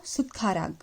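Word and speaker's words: 숟가락: So what we have learned, that in case of tha, if it is a final consonant, so the sound would be tha only. So sudkharag, sudkharag.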